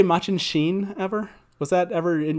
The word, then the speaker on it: Machin Shin: word is machin shin i always used to pronounce this as much and shin and so i think i was always wrong